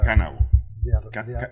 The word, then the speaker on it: Kavanaugh: Kavanaugh. Kavanaugh. Ese mismo. Pero pasó. Así se pronuncia.